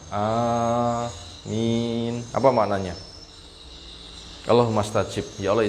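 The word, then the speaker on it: آمين: sunah berikutnya yang keempat mengucapkan Amin a panjang minj ang Amin Apa maknanya allahumastajib Ya Allah ijabahilah Bolehkah dibaca Amin boleh enggak giriril magdubi alaihim wadin Amin boleh Enggak amin amin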